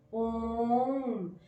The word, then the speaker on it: ओम: अगर हम इसका संधि विच्छेद करें तो पहले आ आता है, फिर ओ आता है, फिर मा आता है। तो हम इसी के साथ अगर हम देखें, जो हमारा ओम का उच्चारण है, ओ आ मा, ओम, वो हमारी जो हमारी